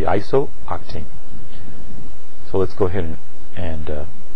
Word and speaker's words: isooctane: We're actually going to pronounce this in 2 syllables, or more than 2 syllables, and it's going to be isooctane.